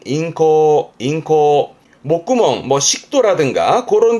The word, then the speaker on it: 咽喉: 이게 인후, 발음은 인코.